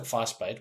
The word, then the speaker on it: Vasbyt: We started Vasbyt, which by the way is pronounced fuss, like making a fuss, and bait as in like fish bait. It's Afrikaans. I'm a South African boy. It's in my home language.